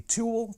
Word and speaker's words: Tewell: Now today, I'm going to be taking a look at the Tewell T-300 Bluetooth speaker. And that's spelled T-E-W-E-L, like jewel, as opposed to T-O-O-L.